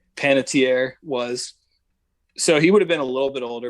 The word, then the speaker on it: Panettiere: how do you say his last name again panettiere panettiere was so he would have been a little